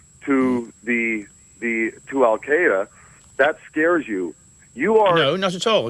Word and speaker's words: Al Qaeda: what you say to Al Qaeda I'm scared about what al- Qaeda says alqaeda by the way is the correct pronunciation Carry On You Al